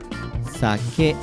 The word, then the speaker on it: sake: hey ba accent impact so it should be pronounced sake if the pitch drops towards the second letter